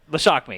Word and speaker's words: Lashakmi: How do you say it? No, go ahead. Shock me? Shock me? Lashakmi, yes.